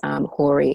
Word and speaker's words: Horey: CA t RI o and a it's pronounced and then it's Cory hor ey and then I would also say